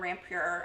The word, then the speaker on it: Rampur: It's either Rampur or Rampur. It's Rampur. I'm no from good India, with, right?